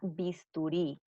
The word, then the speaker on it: bisturí: Y nos falta una palabra aguda más, la palabra bisturí. Bisturí lleva la sílaba tónica en la última sílaba y se tilda porque termina en vocal.